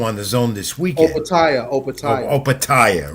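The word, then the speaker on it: Opetaia: Opataya, right? Opataya, yeah, he's and in my notes here, I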